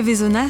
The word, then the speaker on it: Veysonnaz: et vezona au fait Nanda et Vona ça s'écrit avec un Z à la fin mais on ne le prononce pas c'est comme ça ici